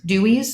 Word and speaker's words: Dooeys: Dutch word and then I just adjusted the spelling slightly just so because I am my primary Market is the US I wanted it to be like phonetically just easy easy to read and easy to say so um so you